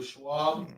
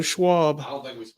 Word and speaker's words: Schwab: up on Facebook my name's right there Schwab yeah Schwab I mean there you go s-c-h-w Charles Schwab